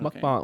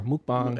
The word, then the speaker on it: mukbang: Mukbang or mukbang. It's like how they say it properly.